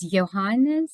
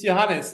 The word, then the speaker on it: Johannes: you say your name it's johanes it's Johan joh actually it's johanes and since it's not suitable for an international context it's yeah yeah because I'm